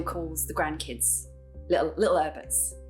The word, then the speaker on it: Herberts: the grandkids little little herberts you've got to say it with like a little cockney accent and you don't pronounce the h so it's a little